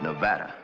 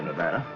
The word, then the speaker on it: Nevada: By the way, that's pronounced Nevada. I notice you give it the broad ah. I prefer it to a dreadful flat ah.